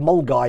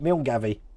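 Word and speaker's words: Milngavie: just as bad as i said mole guy in in in glasgow i spelt meal gavi it was two years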